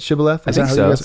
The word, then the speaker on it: shibboleth: the ephraimites right the word that they couldn't pronounce shibboleth okay right is that how you say it shibboleth right yeah so there's this this one hebrew